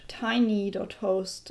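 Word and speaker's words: tiiny.host: We do that by using a service that is called tiny.host, and that is spelled Tiiny, so tiny with 2 I.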